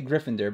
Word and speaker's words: Gryffindor: I know you guys hate when I say Gryffindor but that's how you pronounce it let's open this guy up oh